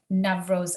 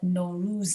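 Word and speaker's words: Norooz: on a personal level i've stopped spelling nevros a certain way and i spell it no ruse now and i'm saying it differently sometimes i still see more rules i spell it n-o-r-o-o-z which is one of the accepted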